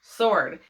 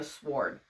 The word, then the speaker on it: sword: Sword. When I see that word, I automatically go sword. I know that that's how you used to pronounce it, but I'm just like, that's not how you pronounce it now. Like, the word is sword. But I shit you not, when I read it, my brain just goes sword.